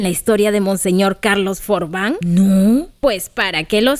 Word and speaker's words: Forbin: misionera Carlos Por fin se pronuncia for van es un apellido francés Acaso no conocen la historia de monseñor Carlos forbán no pues para que